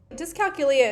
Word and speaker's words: dyscalculia: Dyscalculia is one that has come up for me recently.